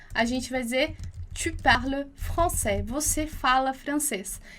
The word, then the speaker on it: parles: Lembra lá que você já viu comigo que S em final de palavra não é pronunciado.